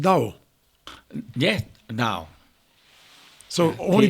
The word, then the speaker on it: Tao: It's written Tao, but you pronounce it Dao.